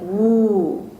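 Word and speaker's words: 五: Wu is pronounced almost like woo.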